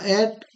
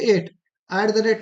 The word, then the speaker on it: @: एट द रेट नहीं पढ़ते हैं, जो बहुत लोग पढ़ते हैं, ये गलत प्रोनाउंसिएशन है। इसका सही प्रोनाउंसिएशन क्या है? एट।